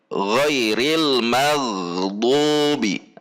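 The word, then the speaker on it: غير المغضوب: and this it is very dangerous when we pronounce it wrong because it can invalidate the prayer here; ghoiril maghdhuubi, there is the letter ghoin when pushed into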